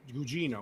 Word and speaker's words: Gugino: Gugino? Gugino? Gugino. Gugino. Gugino. Gugino? Yeah. Gugino. Gugino. Gugino.